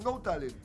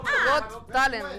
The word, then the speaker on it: Got Talent: No, es GOT. Got, De tener talento. Go Talent, dijo. ¿Cómo es que diga? Got Talent, Got Talent.